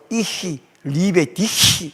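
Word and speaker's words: Ich liebe dich: 계시히 이렇게 그 사랑한다 말도 이히 리베디히 이렇게 발음해야 된다고 그랬었데.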